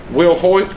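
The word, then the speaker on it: Wilhite: would you happen to know who that is Will Hoyt okay well now I think it's well it's it's spelled like w-i-w-i-l-h-i-t-e he's with the Kentucky School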